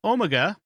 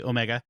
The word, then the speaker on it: Omega: the tardis wiki uh omega or as americans say omega an ancient time lord